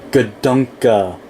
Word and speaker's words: Gadunka: Um um but um the actual way to pronounce his name is Gdunka.